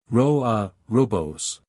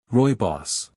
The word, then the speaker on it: Rooibos: Robos. How do I pronounce that? Spiff quickly searches and finds the proper pronunciation. OK. Rooibos.